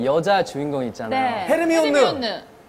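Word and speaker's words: Hermione: 헤르미온느. 어, 그거 아니요. 헤르미온느 못 알아들어요? 아니, 저희가 영화를 보면서 헤르미온느 얘기를 하고 있는데 헤르미온느 얘기를 계속해서 못 알아들어요. 헤르미온느 그러니까 아아 하더니 했던 발음이 헤르마이오니.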